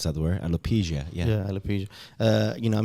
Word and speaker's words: alopecia: You know, that's how you pronounce that word, alopecia.